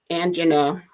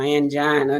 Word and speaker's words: angina: it now there is something called angina or angina depending on how you want to pronounce it that occurs when the